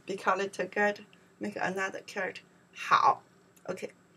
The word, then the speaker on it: 好: We pronounce the 好.